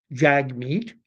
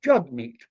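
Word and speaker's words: Jagmeet: in the manner in which he wants it pronounced it's not Jag meat it is jug meat and I think conservative-minded Canadians we do oursel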